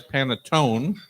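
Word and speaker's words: panettone: they think of as panetone and Eliza you can correct me if I'm wrong but I think it's paneton it's panon the Italians pronounce the last vowel so p a n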